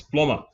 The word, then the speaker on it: plumber: The B is silent. Not got me the plumber there. No, it's plumber.